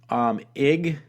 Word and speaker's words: Ige: Sorry about that one word I kind of mispronounced. Anyway, it's unclear whether Governor David Ige, it's I-G-E, I've never seen a name spelled